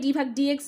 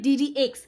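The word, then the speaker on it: d/dx: এটাকে ডিডিএক্স বলে, ডি ভাগ ডিএক্স বললে হবে না, ডি ভাগ ডিএক্স বা যে কোনো কিছু বললে হবে না, এটাকে উচ্চারণ করতে হবে ডিডিএক্স।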